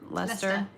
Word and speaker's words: Leicester: She used English mustard and some Grand Canyon and, I don't say it right, but red Leicester.